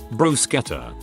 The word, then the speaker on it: bruschetta: Make sure you pronounce it with a hard ch too. Bruschetta.